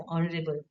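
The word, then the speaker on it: honourable: तो यहां दोनों जो वर्ड्स है ऑनरेबल और आर इसमें एच साइलेंट है। ओ का प्रोनाउंसिएशन आता है। इसलिए ओ वोवेल है इसलिए यहां पे लगेगा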